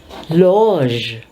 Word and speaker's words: loge: GE has the sound of ZH. Therefore, you have to pronounce it loge.